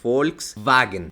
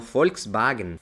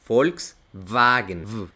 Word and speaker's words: Volkswagen: sonar como una e la W va a sonar como una B pero una B vibrante no B sino V como si pegaras los dientes a tu labio y haces una vibración literalmente Volkswagen no Volkswagen Volkswagen es muy difícil de